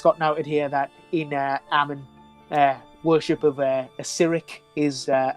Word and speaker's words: Amn: It's a funny word to pronounce because you can't really hear the M or the N depending on how you pronounce it. Ammon.